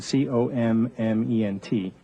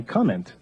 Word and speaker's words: comment: the French word comment, which is written C-O-M-M-E-N-T, speakers of English will look at that instinctively through the prism of their own writing system and say comment, when in fact the French word is pronounced comment and means something totally different.